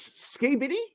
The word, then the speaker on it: skibidi: Is this ski bitty? Yeah, that- we had to look at Is that that. how you pronounce it? yeah, yeah.